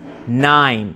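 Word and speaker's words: Nien: to pronounce the name I always said it incorrectly it's 9 like the number 9 right no no I used to call him Ian um I did what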